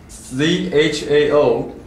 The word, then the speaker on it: Zhao Shao-Ang: and this is pinyin ZhaoShaoAng. Zhao Shao-Ang. It might be pronounced differently in Cantonese, so spelled differently. It could be CHAO, HSAO, and AN in Cantonese, the variations.